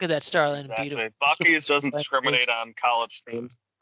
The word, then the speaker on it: Buc-ee's: See, the Midwest in me, I was gonna pronounce it Butchies or Boochies or something like that, but Buc-ee's, I guess. It's a hard C. Yeah, it's a hard C. Buc-ee's. You should be able to pronounce it just like your Buckeyes.